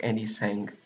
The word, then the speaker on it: AndyTsang: Do you read the T or is it like AndyTsang? The T is silent. I mean, technically, like if I said it in Chinese, you would hear like a little bit of the T, but when I say